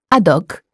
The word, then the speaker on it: haddock: For example, un homme, a man, has a mute H, whereas un haddock has an aspirated H.